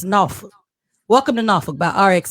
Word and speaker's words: Norfolk: Now, if you're from here, it's pronounced Norfolk. If you're not from here, you probably say Norfolk, but it's Norfolk.